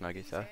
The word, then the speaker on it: Nagisa: hey Nagisa check it out oh it is pronounced Nagisa CH MOA during the day me huh what